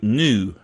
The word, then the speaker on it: GNU: Linuxy type folks like recursive naming, like GNU, new. There is an animal called a new, and it's pronounced the same as NEW, new, but GNU is news, not Unix.